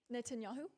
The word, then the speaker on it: Netanyahu: Not on your net and yahoo. Netanyahu. Netanyahu. So like fishnet net an n net net